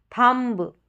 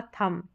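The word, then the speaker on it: thumb: अधिकतर क्या करते हैं इस स्पेलिंग को हम गलत प्रोनाउंस करते हैं थंब नहीं होगा थंब नहीं होगा थम थम बी का जो है साउंड नहीं आएगा तो यह हो गया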